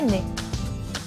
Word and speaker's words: nez: Cette fois-ci, les deux mots se prononcent de la même manière. Cependant, ils s'écrivent de façon totalement différente. Alors, fais attention, car le nez, écrit N-E-Z, désigne la partie de ton